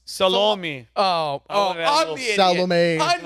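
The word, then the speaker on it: Salome: but his last name's s a l o m e that's salomi oh I'm the ID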